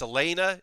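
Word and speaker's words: Elaina: I should say so even though it looks like Elena it's Elena is how they pronounce it I have taken a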